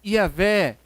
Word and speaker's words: Iavé: É YHWH, que nós falamos Iavé.